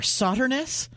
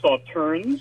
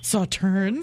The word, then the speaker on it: Sauternes: Sauternus. It's actually pronounced Sauternes. Sauternes.